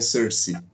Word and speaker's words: sursis: ele é uma palavra de origem francesa a pronúncia correta no francês é ser se é ser-se mas no brasil a a maioria